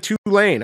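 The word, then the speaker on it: Tulane: I said it right right did I say two lane correct yeah they got I said two lane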